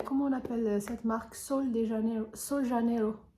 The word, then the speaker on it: Sol de Janeiro: Sol de Janeiro. C'est comme ça qu'on prononce. Moi, entre guillemets, je l'appelle Rio de Janeiro. C'est Sol Janeiro.